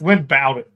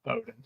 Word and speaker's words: Lynn Bowden: And don't forget, it's pronounced Lynn Bowden, not Bowden.